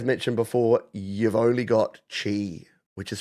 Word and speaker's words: Qi: before you've only got Chi which is spelled Qi by the way if you're thinking why does he keep saying Chi it says Qi it's Qi but it's pronounced Chi yeah go figure uh